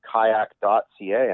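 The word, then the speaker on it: qajaq: to find me online you can go to kayak.ca and that's spelled traditionally so q a j a q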